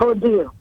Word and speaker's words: Odile: Odile.